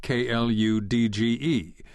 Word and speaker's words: kluge: Some spell it with a D, Kludge, which has the virtue of looking as clumsy as the solutions it denotes, but the disadvantage of suggesting the wrong pronunciation. Properly pronounced, kludge rhymes with huge, not sludge.